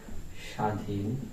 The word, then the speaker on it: স্বাধীন: দেখি প্রথমে আমরা দেখেছি শব্দের শুরুতে ব ফলার উচ্চারণ হয় না কোন শব্দের শুরুতে যদি